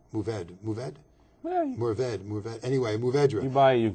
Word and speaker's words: Mourvèdre: okay, I would pronounce Mourvèdre. Mourvèdre? Mourvèdre. Anyway, Mourvèdre.